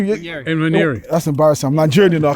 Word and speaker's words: Nwaneri: Nwaneri. That's embarrassing. I'm Nigerian, I can't even say it. Lord Jesus. It's not embarrassing. Nwaneri, yeah.